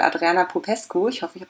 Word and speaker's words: Adriana Popescu: bei mir nämlich die autorinnen alle freitag und adriana popescu ist richtig ausgesprochen gern perfekt am kit und die beiden